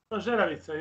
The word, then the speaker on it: Zeravica: Am I pronounce it correctly, Zeravica or Zeravica? Zeravica, yes. First, Zeravica. Zeravica. Okay, Zeravica.